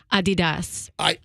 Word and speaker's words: Adidas: A lot of people don't know it's actually pronounced Adidas.